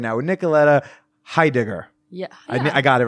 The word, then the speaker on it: Heidegger: right now with Nicoletta Heidegger. Yeah, I got it right. Okay, close. Cool. Oh, it's pretty close. How would you say it? Heidegger. Oh, I was too heavy on the G's. Heidegger.